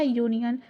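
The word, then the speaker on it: union: है, यूनियन है ना, तो इसको पढ़ेंगे क्या, यूनियन। लेकिन इसका जो फर्स्ट जो प्रोनाउंसिएशन है वो किससे हो रहा है, यू से हो रहा है, यानी कि य से।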